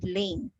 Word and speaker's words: lane: Okay, moving forward, we have the word lane. So the silent letter here is letter E. It's only L-A-N. L-A-N.